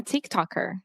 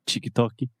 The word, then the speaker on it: TikTok: so boo Boomers so we are talking about Tick Tock yes I'm a tick tocker now is that what people call it I